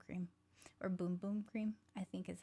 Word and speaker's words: Bum Bum: So I do love the Bum Bum Cream.